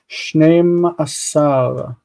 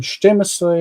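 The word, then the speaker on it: שנים עשר: Shnei asar. You'll hear people say in Israel all the time, shtemesre anashim, but that's wrong. It's shnei asar anashim. We should always strive to say it correctly.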